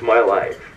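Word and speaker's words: MYLF: now I work for myls pronounced My Life as a recruiter in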